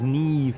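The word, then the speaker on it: Niamh: It's Neve, yeah. It is Irish, I think. It's spelled very, very different.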